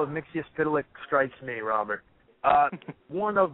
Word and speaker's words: Mxyzptlk: wanted to talk about, and I can never pronounce this guy's name, but the imp from the fifth dimension, I believe. Mr. Mxyzptlk.